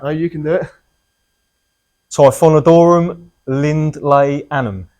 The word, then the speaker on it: Typhonodorum Lindleyanum: Typhonodorum Lindleyanum. It's actually pronounced Typhonodorum Lindleyanum.